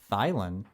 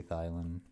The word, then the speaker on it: Thielen: It's Thielen. Thielen. You know, You recognize. traditional pronunciation is an I sound if the I is last in names, but I don't know the origins of that name.